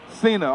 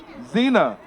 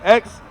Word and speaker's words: Xena: Cena. Okay, I'm bad with names, huh? Zena. Oh, okay, Zena. Okay. So look, I'm bad. I was about to say Xena Warrior Princess. I remember that show. Man, okay, it's spelled the same way.